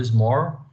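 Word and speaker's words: Schmorl: esse acidente ósseo chamado SMOR, né, que se escreve dessa forma, mas tem essa pronúncia, né, SMOR, que é basicamente uma hérnia discal para baixo, né?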